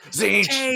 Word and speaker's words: Tzeentch: The G is silent in Tzeentch and not even seen. It's in the word Tzeentch. You just never see it.